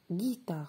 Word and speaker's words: guitare: Et pour guitare, c'est guitare, c'est G-U.